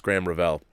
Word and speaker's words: Graham Revell: film inial more familial score by graham Revell pronounced graham Revell okay it's graham Revell Graham Revell all the production on that movie